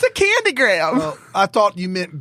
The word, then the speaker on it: Graham: No, it's a candy graham. Well, I thought you meant Graham, not you. Graham is one syllable. Graham.